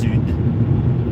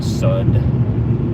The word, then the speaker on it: sud: My favorite was when it was trying to say south, which is sud, but it kept saying sud.